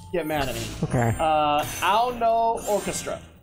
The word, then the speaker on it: Ao no Orchestra: Ao no Orchestra. Ao no Orchestra. No, A-O space N-O. Ao no. Ao no, right. I believe that's how it's said.